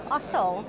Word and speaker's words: Ossel: And we have Mark Ossel. Is that the right way to pronounce the surname? That's perfect. Yes.